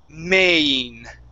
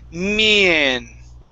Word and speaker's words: main: So it's main. Main. Almost. So you're switching them. You're pronouncing them backwards, saying mien. Okay, instead of mien, it's main.